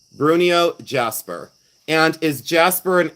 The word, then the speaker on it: Bruneau: And like I said, I probably say it wrong, but I always say Bruno. B R U N E A U. Bruno.